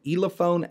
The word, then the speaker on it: Elephone: guys this is the ELA phone s8 now I'm probably not pronouncing that correctly it's e le th o and E so I think it's ela phone either way this is